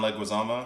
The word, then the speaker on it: Leguizamo: and i say it right that time john leguizamo he's the piss yeah he was in this